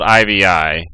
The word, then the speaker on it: iVi: doing here on this map well it's called ivi which is pronounced IV but back to ivi which stands